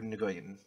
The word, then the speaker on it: Nguyen: Discover Journals of Harper Nguyen. Is it Nguyen or Gwen? Gwen? It's pronounced Oh, Gwen.